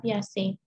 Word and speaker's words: Piaget: yang berkebangsaan Swiss ini namanya tulisannya Piaget tapi bukan Piaget ya dibacanya sekali lagi Bacanya adalah piace Oke Dia adalah seorang